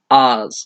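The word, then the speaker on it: Aahz: old friend of Guardians his name is oz short for us mundus and it's spelled aah Z and schemes like oz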